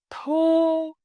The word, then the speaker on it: thu: When you say words with u, make your lips round like a small circle.